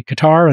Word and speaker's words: Qatar: United States they say Qatar and in Qatar they say cutter so somebody can correct